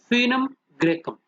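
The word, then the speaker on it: Foenum graecum: Trigonella फिनम ग्रेकम, फिनम ग्रेकम, FOE जैसे फीटस होता है, ओ साइलेंट है, फिनम ग्रेकम।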